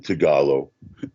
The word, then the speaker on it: Tagalog: everything hey you know it's always the second syllable in Tagalog that's a stressed right so like Messiah